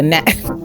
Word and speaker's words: gnat: I annoy you like a gnat. And, in all reality, at the time, this just could be my slow ass, I didn't know gnat spelled with a G. G-N-A-T. Gnat.